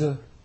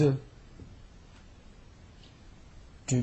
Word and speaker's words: œufs: 这个词需要补充一下，如果是复数的话，读成 des œufs，这个时候 f 不发音 des œufs。Du poulet.